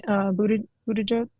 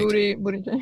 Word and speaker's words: Buttigieg: Pete Buttigieg. I'm not sure if I'm saying his name right. That sounds right. Buttigieg.